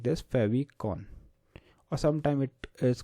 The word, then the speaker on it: favicon: topic we are learning today so topic is fav icon so sometime people uh pronounce it like this favon or sometime it is called as fav icon